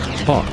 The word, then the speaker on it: HAWC: Hypersonic Air-breathing Weapon Concept, or HAWC, pronounced HAWC for short.